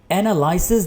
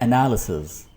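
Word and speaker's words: analysis: एनालिसिस नहीं होता, लफ्ज़ है एनालिसिस।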